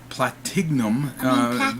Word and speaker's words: Platignum: Well, it's the G silent Platinum. Platignum. There's supposed to be a silent G. I know, but it's more fun to pronounce the G.